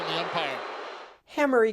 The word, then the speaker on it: Hamari: Hammery guys is pronounced hammery.